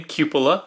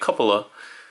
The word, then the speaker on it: Cupola: first of their remaster lines, and his name Cupa, which is apparently the correct way to pronounce that word. I did not know that. I was calling it couple like cupa but that's wrong.